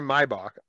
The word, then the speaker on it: Maybach: but i picked up the ramsey mybach um i think i'm pronouncing that right but maybach maybach maybe i don't like the car it's for sure a mybach it's a for sure